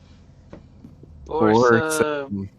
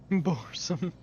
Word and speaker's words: Borsum: It sounds like this, phonetically. Borsum. Boresome.